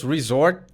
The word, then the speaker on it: resort: lugar de tirar férias em inglês risorr corto te não se pronuncia tão forte assim Mas ele significa a